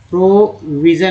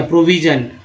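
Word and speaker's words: provision: SIN को सन बोलते हैं, यहाँ पर जन बोला गया। जैसे देखिए यहाँ पर SIN को जन उच्चारण किया, प्रोविजन। कभी कभी जो है सन भी होता है, जैसे कमीशन का वर्ड देखिए, COMMISSION, तो यहाँ पर SION है, तो यहाँ सन उच्चारण हुआ, जबकि यहाँ प्रोविजन में जन उच्चारण हुआ।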